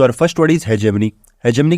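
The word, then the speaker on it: hegemony: देखो, इसको हम ऐसे प्रोनाउंस नहीं करेंगे, इसको हम ऐसे प्रोनाउंस करेंगे, है जी। है जी। क्या है आपके पास? मनी है। हमारे पास है जी मनी।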